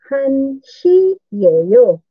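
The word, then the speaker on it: 한 시예요: Pag sa time na, ang hana, nagiging han na lang.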